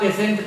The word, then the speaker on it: patient: उसी तरह से आप देखिए PATIENT, इसको आप पेशेंट पढ़ते हैं। पेशेंट क्यों हुआ? क्योंकि टी के बाद IE आ गया है, टी तालव्य श का साउंड देगा।